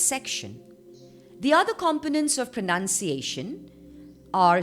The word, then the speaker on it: pronunciation: let's see where the syllable stress is in pronunciation pronunciation pronunciation the first and the strongest stress is on a and the second and the softer stress is on none pronunciation so there you go guys you have learned